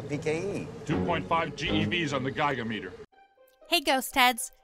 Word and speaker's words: Gigameter: Before we begin, there are roughly three pronunciations of the Gigameter's prefix. Giga, Giga, and Giga. 21 gigawatts! Since Egon says Gigameter, that's what we'll be using.